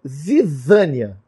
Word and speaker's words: zizânia: Joio, no grego, é zizânia. Zizânia. A pronúncia certa é essa.